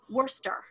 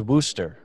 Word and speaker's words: Worcester: Manchester is Manchester, which I think should be Manchester, but and Worcester. It's Worcester. Oh yeah, Worcester. yeah. That no, one. I thought it was Worcester.